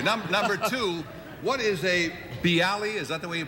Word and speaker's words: bialy: Thank You number two what is a B Ali is that the way you pronounce bialys yeah see Ali originated in a place called